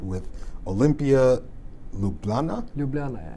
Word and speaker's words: Ljubljana: want a championship I'm going to try and pronounce this right with Olimpija Ljubljana Ljubljana Ljubljana good in 2016 so you have experience winning